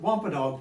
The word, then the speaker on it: Wampanoag: I Googled that to see how to pronounce it. Wampanoag tribe.